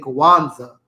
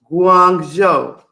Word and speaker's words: Guangzhou: to pronounce this, because I'm tired of saying Kwanzaa, like Kwanzaa. How do you pronounce this?